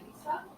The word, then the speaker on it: Naiza: But it's not pronounced like that. It's pronounced Naisa. Like the I is an E and the Z is an S. I'm Mexican. So it's like in Spanish it's Naisa.